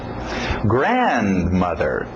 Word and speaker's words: grandmother: Grandmother. Grandmother. Grandfather. Importante essa batida no início.